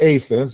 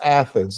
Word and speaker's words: Athens: It's not Aphens, it's Athens. And because I've heard some the northerners, some Northerners might say it that way.